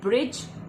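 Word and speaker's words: bridge: फिर आता है ब्रिज, और ब्रिज में डी साइलेंट है।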